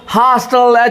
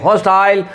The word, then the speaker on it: hostile: हॉस्टल, HOSTILE, इसको Ukraine UK वाले बोलेंगे हॉस्टाइल, और ये अमेरिकन बोलता है हॉस्टल।